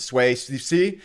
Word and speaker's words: Sui: down to Suie, uh, I don't know how to pronounce it sway. Uh, that's we're now pronouncing this as Sue.